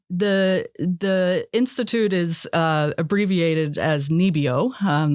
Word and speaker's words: NIBIO: Yeah, so the institute is abbreviated as NIBIO. That's how it's pronounced in Norwegian.